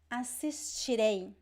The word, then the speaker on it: assistirei: Assistirei. Assistirei. So you see here, again, I have this stress at the end because we have two vowels, right?